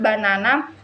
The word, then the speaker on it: banana: For example, in the word banana, the second syllable is stressed.